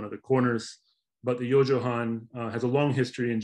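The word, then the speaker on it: 四畳半: 4.5 maps in japan that's pronounced you'll see at the bottom yo johan literally four tatami's and a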